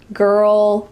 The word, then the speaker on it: girl: When you want to talk about the sound that an angry dog makes, you could say grr, grr, and then we're going to add ul at the end. Girl, girl, girl. Notice that my mouth isn't really moving here. It's all inside my mouth and in my throat.